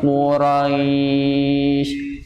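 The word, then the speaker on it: قريش: jangan Lila beliin Levi Quraisy pokoknya tebal woro-woro royss Quraisy rohnya Pak metlin ya Quraisy wuro Quraisy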